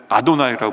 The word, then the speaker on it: 아도나이: 여호와라는 하나님의 이름이 나오면 절대로 유대인들은 그걸 여호와라고 읽지 않아요. 글씨로는 여호와라고 써 있는데 하나님의 이름 망령 때 부르지 않기 위해서 여호와라고 안 부르고 뭐라고 부르냐면 아도나이라고 불러요.